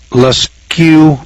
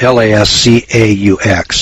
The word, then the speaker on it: Lascaux: In Altamara, Spain, Lascaux, France, that's spelled L-A-S-C-A-U-X, I guess that's Lascaux, France.